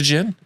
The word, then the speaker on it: Djinn: it Djinn? No, I thought think it it's was Gen. It is Gen. Yeah, it's It is Silent D. Gen. It's Silent D.